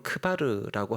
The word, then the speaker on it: 크바르: 히브리 말로는 크바르라고 하는데요. 크바르. 고고학자들이 고대의 바벨론 문서를 연구하다가 거기에 나루 카발이, 발음도 비슷하죠. 크바르, 카발이 같은 말입니다.